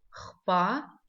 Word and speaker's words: Хпа: Хпа пишется как слышится, х читается тверже, чем в русском языке.